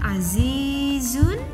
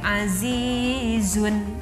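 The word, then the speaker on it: عزيز: kita diberhentikan membacanya disini membacanya gaboleh azizun salah cara yang benar itu adalah Aziz cari yang benar kalau diwakafkan Aziz nah coba kita perhatikan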